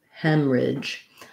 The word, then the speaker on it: hemorrhage: in the middle and it sounds more like um excuse me sounds more like hem ridge hem hemorrhage um that's so that's a good way to remember it um that h is silent and um we just have a pretty quick middle syllable there for hemorrhage um okay good thank